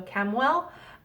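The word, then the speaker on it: Chamuel: well ch am UEL I've always pronounced it as like a k so cam well um I believe he's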